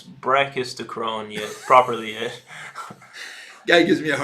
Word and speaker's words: brachistochrone: Can you pronounce brachistochrone yet properly yet?